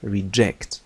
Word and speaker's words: reject: لاحظوا stress الشدة أين توجد؟ توجد على ج عندما تكون هذه الكلمة فعلا. reject ينبذ يرفض. أما عندما تكون اسما فتنطق reject. الشدة توجد هنا أو stress توجد على الحرف الأول R.